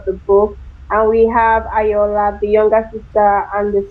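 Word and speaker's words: Ayoola: And we have Ayola, the younger sister and the serial killer.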